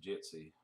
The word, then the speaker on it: Jitsi: It's called, I guess it's pronounced Jitsi, J-I-T-S-I, Meet.